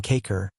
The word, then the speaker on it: Kakor: word, as Kakor, gorges, pronounced as though written Kakor, the having the sound of a in sofa.